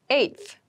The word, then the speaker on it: eighth: my 10th attempt eth eighth eth eighth refers to the number eight of something the pronunciation might be a little tricky so be careful with this one I live on the